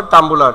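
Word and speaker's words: Tumblr: যে এটা কি তানভরম্বুলার উচ্চারণটা হবে তাম্বুলার এটা কি বলেন তো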